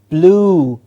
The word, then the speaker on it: blue: the sky is blue it is not you there is no you sound in this word it's a long o sound it's blue okay blue sh o